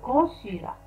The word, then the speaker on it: consulat: هنا الت في آخر consulat لا تنطق le consulat.